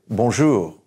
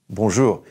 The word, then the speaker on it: bonjour: all the time I know you've heard it Bonjour Bonjour good morning good days what we're really saying